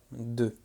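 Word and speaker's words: deux: Alors attention, le X ne se prononce pas. 2.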